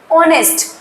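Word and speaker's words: honest: रहे हैं यानी कि जब हम वर्ड को बोल रहे हैं ऑनेस्ट ऑनेस्ट जब हम बोल रहे हैं तो यहां पे हमारा ओ शब्द आ रहा है ओ मीन्स ओ वर्ड का प्रोनन्सिएशन आ रही है तो ओ ओ जो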